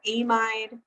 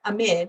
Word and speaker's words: amide: So some people might call it an amide, right? I call it an amide. It can be a little confusing because there's something called an imide that's very similar, like IMIED.